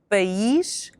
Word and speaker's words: país: Now for country, we have two syllables, pa and ish.